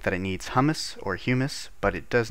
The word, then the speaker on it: humus: uh dirt very simple or humus I don't think it's pronounced hummus humus uh please don't kill